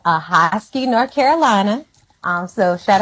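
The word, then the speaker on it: Ahoskie: get so I'm from a small town called aosi North Carolina um so shout out to all my North Carolina folks who are listening how do you spell that a hosy a h o s k i e okay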